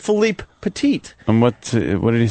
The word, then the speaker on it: Philippe Petit: Most people say Philip Petit. So I purposely was trying to say his name right. So I said Philippe Petit.